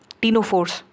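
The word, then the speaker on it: ctenophores: question है present in टीनो फोर्स C silent है टीनो फोर्स cell produce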